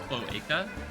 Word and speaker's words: cloaca: It's pronounced cloaca.